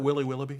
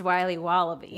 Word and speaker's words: Wiley Wallaby: Can I have a piece of that Willy Willoughby? Wally Wibbly. Wiley's Wallabies. Wallaby Wallies? Wilby Wallaby? It's pronounced Wiley Wallaby. Well, it's very good. It's called Wiley Wallaby, and it's delicious.